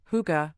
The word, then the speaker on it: hygge: Originating in Denmark and widely practiced in other Nordic countries, hygge, pronounced hygge, is about cherishing the simple pleasures of